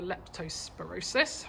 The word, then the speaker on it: leptospirosis: but the tests came back last week for leptospirosis that's how you say it which is rat